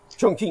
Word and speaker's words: Chongqing: Chu King Ching, I'm trying to pronounce the name of it. Chongqing.